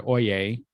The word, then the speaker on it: Oyez: So let me go ahead and click on that link and take us to a website called Oyez, even though it's spelled O-Y-E-Z, you pronounce it Oyez.